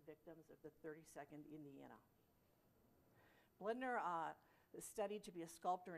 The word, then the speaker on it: Bloedner: Private August Bloedner, as it's pronounced, we learned, of the 32nd, carved a